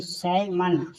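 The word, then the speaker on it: salmon: एस ए एल एम ए एन यानी साइमन एल क्या है? साइलेंट है।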